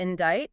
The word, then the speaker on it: indict: They shoved a C into indict and an L into balm, and they had absolutely no intention of changing the pronunciation. We still say them the French way, but they permanently altered